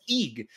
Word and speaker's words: egg: I guess in a New Zealand accent, you pronounce egg as eeg.